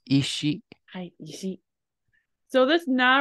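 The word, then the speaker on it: 石: So this can be pronounced as seki, like in mado seki. Do you know how it's pronounced when it's lonely? It is ishi.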